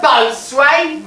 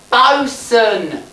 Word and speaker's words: boatswain: A boatswain? It ain't pronounced boatswain, you bumming little buccaneer. It's pronounced bosun.